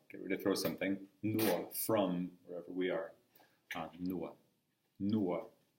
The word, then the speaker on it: no: Next one is nuo. Nuo. It's spelled N-O. It looks like no on the page, but that's that Latvian ua we talked about.